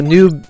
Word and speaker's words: noob: I'm like but oh Noob Noob is yes no Noob is the more canonical pronunciation nub is like a uh intentional mispronunciation of noob uh as would be